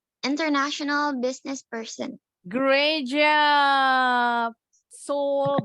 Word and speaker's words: Seoul: Seoul, bacanya Seoul.